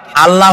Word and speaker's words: আল্লাহ: টের পান এটি আমাদের মনে রাখতে হবে তো আল্লাহ তাআলা তার উপরে আমাদের বিশ্বাস হচ্ছে এই যে